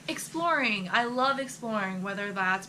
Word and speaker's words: ExploRN: way you should or the way I pronounce it is exploring like we're going exploring and that's how I